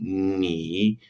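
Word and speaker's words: 你: Ni. Es similar a la N del español, pero tiene más resonancia en la nariz, ¿sí? En la cavidad nasal. Ni, ¿sí?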